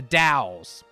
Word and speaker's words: dowels: Da, not doll. D. The dowels. So I need to say it like the Dao industrial, you know, the Dow Jones. That's how it's more like the Dows.